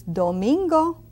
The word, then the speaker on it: domingo: Does it sound like flamingo? Yes. Domingo.